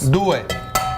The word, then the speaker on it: due: Due. Duo? Dos. Is that how you say it in Italian? Duo? In Italian it's due.